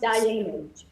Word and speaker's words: Dayenu: It's pronounced Diamond.